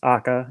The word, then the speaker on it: AKA: chose tires and aka means akka or it's pronounced akka in in japanese that means red and kyo